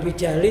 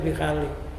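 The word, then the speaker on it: بخالي: Bukan bijali tapi bikhali.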